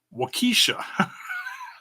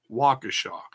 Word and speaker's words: Waukesha: rich bikini pronounced it whoa Keesha it's you're mispronouncing the wrong syllable hits Waukesha so Waukesha County Expo